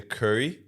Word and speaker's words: Kuri: So basically, it's called the curry, and not curry the food. It's spelled Kuri, and it's that like